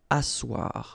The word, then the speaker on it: asseoir: Asseoir. Remember, double S here, it's really a strong S, really strong S.